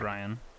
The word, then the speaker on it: Riane: I have a female cousin named Ryan, but again, it's spelled Riane.